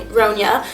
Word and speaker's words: Ronja: So in England, everyone says Ronja, and in German it's Ronja, and in America I would always tell them to call me Ronja, so like Sonia, but with an R.